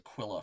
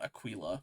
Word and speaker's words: Aquila: I think it's pronounced Aquilla for that one, not Aquilla.